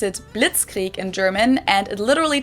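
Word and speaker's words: Blitzkrieg: We pronounce it blitzkrie in German, and it literally translates to lightning war because blitz is lightning and creek is war.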